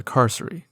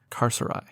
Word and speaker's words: Carceri: chaotic you'd go to carcer or perhaps you like to pronounce it carceri or carceri but if the life